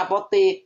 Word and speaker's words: apotek: Sama seperti kaidah APOTEK. Dibacanya apotik. Kenapa?